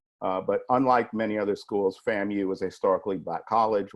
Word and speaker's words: FAMU: engineering technology and Adam it's pronounced FAMU so we'll get well